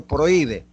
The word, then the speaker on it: prohíbe: Ahora, la H es muda. Decía que en los hiatos, por ejemplo, yo digo prohíbe, prohíbe, escribe prohíbe, prohíbe.